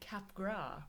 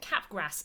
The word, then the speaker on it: Capgras: have been pronouncing it Capgras syndrome when it turns out is by a French guy so it's definitely cap gras and therefore anyone who